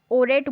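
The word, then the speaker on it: Horeb: और इसको ओरेट बोलेंगे क्योंकि एच यहाँ पे साइलेंट है, तो माउंट ओरेट.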